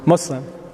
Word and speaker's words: Muslim: Which is preferred? Muslim or Muslim? Muslim. Muslim. Yeah, it's a soft S.